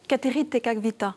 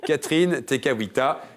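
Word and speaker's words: Kateri Tekakwitha: première amérindienne d'Amérique du Nord vous dites précisément cater tekavita ouais bien prononcé je saais pas le prononcer effectivement Catherine tekwiita et ça vous donne TR points marie bien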